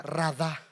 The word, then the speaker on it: radá: Esa palabra enseñorear viene la palabra hebrea radá con con acento en la doble a radá. Esta palabra radá significa dominio, significa estar a cargo.